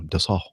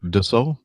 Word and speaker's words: Dassault: I think it's Dassault. I think that's what he said. I'm not French. It looks like Dassault. That, of course, that's not the way you pronounce it if you're French.